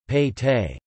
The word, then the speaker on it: pete: Within the fort, the town was divided into smaller divisions, each called a Pete, Kannada pronunciation, Pete.